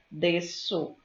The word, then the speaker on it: desço: A mesma coisa acontece com C com cedilha. Desço. Desço. Na pronúncia desço. Você só tem um som.